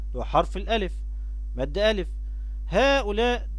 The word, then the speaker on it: هؤلاء: هؤلاء نفس الكلام، طه في مد بالألف بعد الطاء.